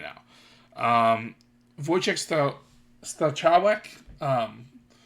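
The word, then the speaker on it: Wojciech Stachowiak: Um, Voyche Stawwick. Um, Voyche Stawwick.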